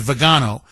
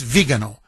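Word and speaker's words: Viganò: And you know you mentioned, you know, it's it's actually it's pronounced vigo. I know when we Americanize it with vago, but literally it's vegano.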